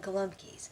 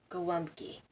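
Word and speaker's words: Gołąbki: thing I keep saying kalam keys and I know my polish friends are watching this just I rollin because it's pronounced go wonky so well let's get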